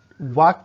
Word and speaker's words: walk: कहीं पे L silent है, WALK कहीं लिखा होता है, लेकिन आप उसे वाक पढ़ते हैं, वाल्क नहीं पढ़ते हैं।